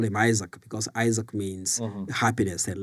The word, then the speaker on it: Isaac: So, but again, since they down in the village, they couldn't pronounce the name Isaac. They call me Isaka. That's in my tribal language is Isaka. But so that's my name. It's just Isaac, and then my last name.